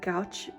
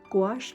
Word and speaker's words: gouache: scenes along the path so this is using gauche and gouache I always say it wrong gouache paint majority of it is squash paints and